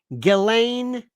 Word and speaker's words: Ghislaine: especially you je galain remember that one galain they also had this